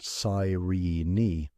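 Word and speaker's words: Cyrene: Every attempt to cultivate it outside that one coastal strip near Serene, pronounced Saii, failed.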